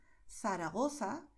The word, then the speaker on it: Zaragoza: a pronunciar estas combinaciones con el sonido que es el mismo que tienes en inglés cuando dices think. Es decir, en Madrid y en general en España, nosotros diremos Zaragoza, El Pozo, Pozuelo, Barcelona, Ciudad.